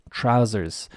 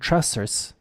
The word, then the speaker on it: trousers: trousers the S here the pronunciation of the esses in both cases is z not not like a snake Okay it's Z trousers trousers okay because if I heard trusters it would sound bizarre would sound strange but I